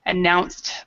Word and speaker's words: announced: announced the plans good so remember with that sound it actually sounds like a t so announced plans very good okay